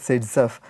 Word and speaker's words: Zaitsev: So, it has to be pronounced as Zaitsev.